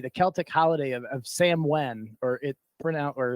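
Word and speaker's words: Samhain: Celtic holiday of of Sam Wen or it pronoun or it's pronounced that way but it looks like Sam Hayne when you look at that so Jud is can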